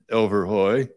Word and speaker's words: Elverhoj: many have is well how do you pronounce overhoy so it's pronounced overhoy second question might be what does that word